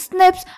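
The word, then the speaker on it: SNPs: DNA differences एसएन पीज single nucleotide पॉलीमोर्फस ज्म pronounced as स्निप्स occur in humans this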